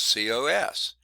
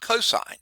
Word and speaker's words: cos: abbreviation for cosine is c-o-s not pronounced cos but cosine okay tangent is first